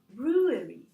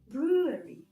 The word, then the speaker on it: brewery: Well, the sound W, okay? It's not a consonant, it's not V. I know that in German, for example, yes, in Polish, they see a consonant when they see this letter, but it's not a consonant. And in this particular case, it's not even pronounced, so brewery, brewery.